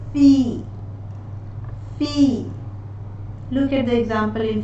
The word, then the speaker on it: fille: fin, rien, pain, certain, Moving on to the letters ILLE, which are pronounced as E in French, as the letter I and Y, or as the letter double E in the word fille.